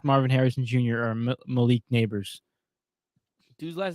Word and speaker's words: Nabers: or Malik Neighbors. Dude's last name is Neighbors. That's kind of crazy. No, it's spelled Nabers, not actual neighbors. Not spelled wrong. But it's still pronounced Neighbors, isn't it?